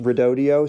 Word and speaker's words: Redodo: 18 months ago, I was sent this battery from Redodo. And yes, it's pronounced Redodo, so think of it as Red-O-D-O.